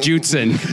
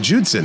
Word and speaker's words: Judson: that is an endorsement John judsen Jud yeah that is a a commonly mispronounced way to say my name Juden though it's weird who would call me Juden we were talking about